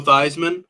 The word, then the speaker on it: Theismann: It rhymes with the Heisman. Joe Theismann?